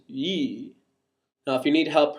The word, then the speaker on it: y: it has in english in swedish y is and always will be a vowel and it's pronounced yee now if you need